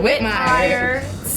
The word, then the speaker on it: Whitmire: Whitmire. You say it exactly the way it's spelled.